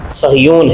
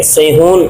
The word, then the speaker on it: صہیون: پہلا واقعہ اس طرح ہے کہ ایک پہاڑ ہے جس کا نام صہیون ہے. یہ آج کل اس کا جو تلفظ کیا جاتا ہے اخبارات میں یہ غلط ہے، سیہون لکھا جاتا ہے، صاد یا ہا و نون سیہون لکھا جاتا ہے.